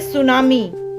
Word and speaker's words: tsunami: Third line में, तो ये टी लिखा है लेकिन बोलने में टी साइलेंट होता है, ये है सुनामी।